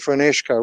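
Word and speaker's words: Fionnuisce: is in park and funishka which in Gaelic means Park of the clear or still water but the British couldn't pronounce phoenixka so they named it Phoenix uh like the Phoenix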